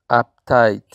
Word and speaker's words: uptight: objetivo es a kite uptight que quiere decir tenso para pronunciar uptight miremos que se hace acentuación o fuerza en la segunda sílaba donde va late cupcake